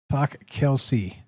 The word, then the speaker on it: Talk Kelsey: And our friend there left, but uh he told me how to say his name. What is it? Uh, talk Kelsey.